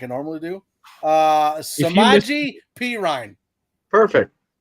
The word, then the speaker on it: Samaje Perine: Samaje Perine.